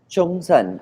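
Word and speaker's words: Zhongshan: Uh, Chongsan is, if you want the Jungsan. Chinese Okay. Chongsan, yeah, but it's but you spell it ZHONG Yep. SAN, so it's Yep. Zongshan.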